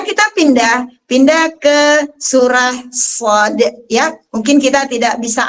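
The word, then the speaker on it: ص: surah Shad ya teman-teman cara bacanya Shad dipanjangkan Shad ya kita ulang SH ya panjang SH baru ketemu huruf Dal Kenapa bisa karena ketika diurai karena dia hukum mad lazim maka ketika diurai ada huruf Shad fathah Alif Mad huruf Dal Sakinah ah wajib enam harakat karena lazimun kita pindah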